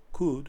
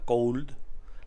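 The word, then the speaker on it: could: siguiente sería cool vale Cut ojo nunca Cold la l no se pronuncia la o prácticamente tampoco de manera que cute aparte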